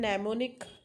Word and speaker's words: mnemonic: Then mnemonic. Mnemonic is the M is silent here.